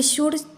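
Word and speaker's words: should: पे हो गया साइलेंट शुड यहां पर शुड प्रोनंसिएशन होता है यहां का भी एल हो गया साइलेंट डी के पहले लाए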